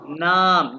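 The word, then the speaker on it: Name: अभी हम देखते हैं, ये देखते हैं, सबसे पहले हम देखते हैं ये नाम, नेम। अच्छा, नेम तो हो गया इंग्लिश में, जर्मन में इसको प्रोनाउंस करते हैं नामे।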